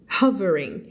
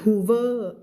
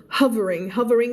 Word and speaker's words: hovering: Fluffed, feathers, flewมันจะเยอะอะไรขนาดนี้คะตัว F flew around in a slow circle นะคะไม่พูด circle ไม่ใช่ circle circle คำนี้อ่านออกเสียงว่า hovering ไม่อ่าน hoover huff เสียง huff hovering ก็คือแบบอยู่ข้างบนน่ะไม่ลอยขึ้นมานิดนึงอะไรอย่างเงี้ย for a moment right in front of his face Kuru What?